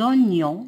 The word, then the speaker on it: oignons: Dans le panier, il y a des oignons, GN se prononce ni, et des champignons.